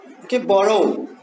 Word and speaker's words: borrow: A final syllable is also unstressed if it contains O. For example, follow, borrow. That is why as you have O at the end, and that is why it is unstressed, so the first one is stressed.